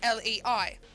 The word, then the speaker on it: lei: hang on a minute l e i what i don't can you can you stop playing the sims 4 please there we go so lei is uh romanian lay currency so that is it's